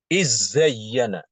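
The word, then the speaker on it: إذ زين: waid zayyana di sini bacaan Imam Hisyam adalah dengan mengidamkan Dal ke Zai Jadi dibacanya izzayyana ya izzayyana contoh lain ya waid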